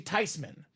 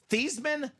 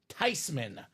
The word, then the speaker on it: Theismann: It's actually Theismann. Everyone's been living a lie, Dom. So proper pronunciation is not Joe Theismann, not Joe Theismann. It is Joe Theismann.